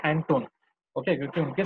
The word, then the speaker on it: Anton: Okay, इन्होंने यहाँ पे अंटोन लिखा है लेकिन दैट इज प्रोनाउंसिएशन हम लोग करेंगे एंटोन.